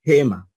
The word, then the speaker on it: gema: usando el fonema G pero en el caso de gema Entonces no está usando el fonema G sino el fonema j y hay sonidos que